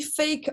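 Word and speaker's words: PHEIC: Et pour la petite histoire, André, ça s'écrit fake en anglais, ça s'écrit P-H-E-I-C. Ah oui, fake. Si on prononce comme fake, comme fake news, c'est rigolo.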